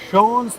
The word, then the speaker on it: Schone: Coming out on top itong Schone McDavid, falling to a lower seed.